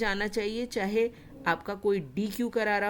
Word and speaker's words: deque: Double ended क्यू है। Pronounce होता है डेक से।